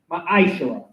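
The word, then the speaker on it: מעשר: Means tenth in the Hebrew, it is pronounced ma'ashara.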